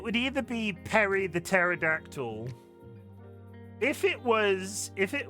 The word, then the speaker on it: pterodactyl: Because the P at the beginning of pterodactyl is silent.